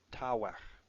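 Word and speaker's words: תוך: shows the other one, tavech. Both begad gefat letters, so they have their dagesh lene. Tavech. Now I suppose I should pronounce this the old way, meaning the historically correct way, tawech.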